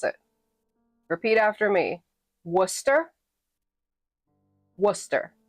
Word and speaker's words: Worcester: Worcester. Worcester. Like rooster with a W. Worcester.